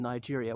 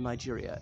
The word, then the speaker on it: Niger: to the north of Nigeria is a french-speaking country in new GA okay ni ger single ji pronounce the soft G but people see that